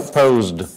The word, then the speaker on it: posed: No, posed. Posed. Why not E? Everything that ends in the Z sound. It's because the Z sound is the S and the E. Is the D, not extra syllable.